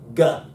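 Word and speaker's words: γ: It's most definitely not a Y. This is a G.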